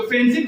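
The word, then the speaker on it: friendship: जैसे यहाँ पे मैंने फ्रेंडशिप लिखा है, तो फ्रेंडशिप का जो प्रोनाउंसिएशन है वो फ्रेंडशिप नहीं होता है, ड का प्रोनाउंसिएशन हट जाता है, जैसे कि यहाँ पे लिखा है मैंने ड्रॉपिंग डी, तो फ्रेंडशिप।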